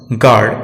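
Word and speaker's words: guard: यू तब silent रहता है जब यह जी के बाद और वॉवेल के पहले आता है। हम देख सकते हैं निम्न शब्दों में गेस, गाइडेंस, गिटार, गार्ड, इन सभी शब्दों में यू साइलेंट है।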